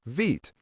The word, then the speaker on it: Vite: Today, the officially recommended tool for starting a new react project is vit pronounced vit.